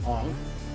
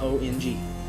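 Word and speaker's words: Aang: saka three thousand times in the series it is spelled s-o-k-k-a not s-o-a-k-a and why is his name on it's not ong there was no comic relief in the movie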